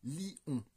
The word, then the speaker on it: lion: Fontaine, qu'il y a une diérèse dans le mot lion et qu'il faudra le prononcer lion pour avoir le bon nombre de syllabes.